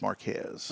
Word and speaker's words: Marquez: the hunel police department her last name is spelled exactly like the town but hers is not pronounced Marque it's Marquez ah okay so more